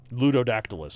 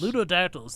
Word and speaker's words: Ludodactylus: They had found, how does this pronounce it? Ludodactylus. Ludodactylus.